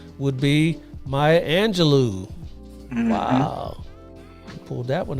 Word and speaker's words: Angelou: Cage Bird Sings and last name rhymes with xanado do would be Maya Angelou wow he pulled that